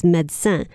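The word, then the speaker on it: médecine: French is medicine itself in French it's medcent so it's really interesting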